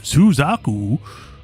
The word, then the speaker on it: Suzaku: Shi Suzaku, pronounced Suzaku.